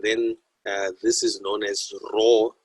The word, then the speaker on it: rho: And then this is known as rho. It's like a P, but it's actually pronounced rho.